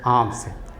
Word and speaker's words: alms: है, भिखारीन, cried for आर्म्स, आम के माने होता है भीख, ALMS, आर्म्स, एल साइलेंट है, आर्म्स के माने भीख, समझ गए, वो भीख मांगने लगी।